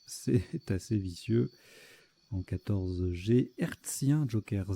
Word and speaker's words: hertzien: assez vicieux, en 14G, hertzien, joker Z, ça c'est rude, c'est pas du tout évident à construire. Ah, on prononce récien. Oui, récien, d'accord.